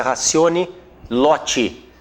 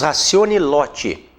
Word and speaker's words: ratione loci: A competência ratione loti. Nós escrevemos ratione loci, né? Mas pronunciamos ratione loti.